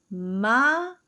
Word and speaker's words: Marrón: Don't forget to double your R. Marrón.